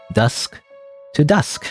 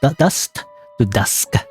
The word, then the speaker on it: Dust to Dusk: Guess that's it for Dusk to Dusk. I keep saying it wrong. Dust dust to dusk. A tongue twister.